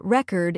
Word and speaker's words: record: For example, the word record, if you say re-cord, it's a noun, like a music record.